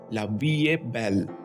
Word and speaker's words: La vie est belle: लेकिन आम अल्फाज में लवी या बेल का मतलब जिंदगी खूबसूरत है होता है दोस्तों इसकी स्पेलिंग पर मत जाइए फ्रेंच जबान में इसको लविय बैल कहते हैं यह एक पॉजिटिव और